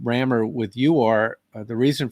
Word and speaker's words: Rammur: thought one last chance r-a-m-m-u-r still could be pronounced rammer and that was available